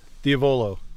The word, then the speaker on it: Diavolo: It's one of those where emphasizing the penultimate syllable is right, but there are so many words where that's not the rule.